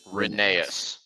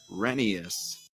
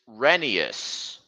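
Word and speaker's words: Rheneas: the correct pronunciation is renius drinking and guys the correct pronunciation is renius but I want to call him when nay is how that shrinking it's pronounced renius kind of like Phineas here's the proof Isaiah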